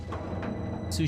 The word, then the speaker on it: sous: be a centaur chef second s in zeus isn't pronounced is like soup sous chef because french that's fine we don't